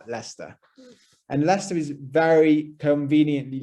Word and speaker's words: Leicester: actually pronounced lester so you can really ignore the i the c and the e and basically just use l e s t e r leicester and leicester is very